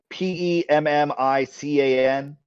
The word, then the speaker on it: pemmican: How do you pronounce that word? Persimmon? No, not the fruit. Oh, Peckerman? The PEMMICAN.